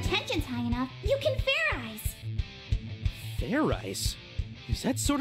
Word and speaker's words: Fairies: idiot like i said it's not fair rice it's fair eyes do it again and this time make sure you pronounce the z let's do this